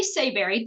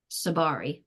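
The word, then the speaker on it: Tsabary: Shafali Seberry. Did I pronounce that right? How do I say that? Sabari, but you could even just say Shafali.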